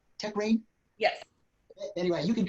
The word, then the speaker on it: Techrein: Am I pronouncing Techrein. that right? Techrein?